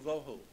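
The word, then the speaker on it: וָבֹהוּ: Vohu would be V-O-E W-H-O, tohu, vohu, waste, desolation.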